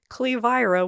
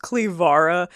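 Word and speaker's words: Cleviara: Clevira was at least my height, if not taller if not taller.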